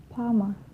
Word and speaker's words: plumber: For the example, climb, crumb, lamb, thumb, jam, plumber. Climb, crumb, lamb, thumb, jam, plumber. So I'm not pronouncing the B, I'm just pronouncing the M consonant sound.